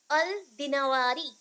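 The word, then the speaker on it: Dinawari: Mention है, अल जहीज, अल दिनवारी, that is अल दिनवारी, अल दिनवरी। हम लोग ऐसे लिखने के लिए किया है, अदरवाइज प्रोनाउंसिएशन में अल दिनवरी, दिनवरी।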